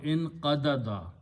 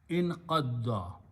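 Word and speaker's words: انقضّ: So that's the meaning of in qadda or in qadada. Two same letters can be pronounced with a shadda. So the sound at that time will be in qadda.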